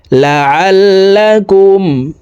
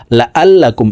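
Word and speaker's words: لعلكم: খারাজের হি ওরিম আয়াতিহি লাললাকুম লাললাকুম আইন হরফের উচ্চারণ হালকের মধ্যখান থেকে পড়তে হবে হামজার উচ্চারণ করা যাবে না লা আল্লাকুম এভাবে পড়া যাবে না দেখুন লাললাকুম লাললাকুমু আয়াতিহিলা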